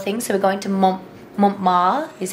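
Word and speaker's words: Montmartre: a couple of things so we're going to Mont ma is how they say it and it's a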